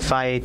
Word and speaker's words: Fage: And we have Fage Total. Okay. Okay. Fage, is that how you pronounce it?